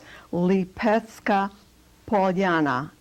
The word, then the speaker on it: Lipecka Poljana: How do you pronounce that, please? Czechoslovakia. But the town, the city. The town is Lipecka Poljana, L-I-P-E-C-K-A, capital P-O-L-J-A-N-A.